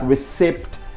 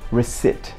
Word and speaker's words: receipt: receipt by the shopkeeper most of us do pronounce this word P and rather we put stress on that we say like recipt so no P in it so that should be resit no P you know I paid